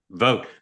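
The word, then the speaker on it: Vought: Sean, how do you pronounce the last name of the OMB chair? Vote.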